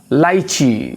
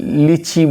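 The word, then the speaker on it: lychee: দেখো লাইচি, এটাকে আমরা অনেকে লিচি বলি। এটা আসলে প্রকৃতপক্ষে দুইটা উচ্চারণ হয়, দুই দেশের ইংরেজি হয়, এটা ব্রিটিশ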